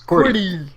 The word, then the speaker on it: QWERTY: Following it to the right is WERTY, and because we can phonetically pronounce that, we refer to them as QWERTY.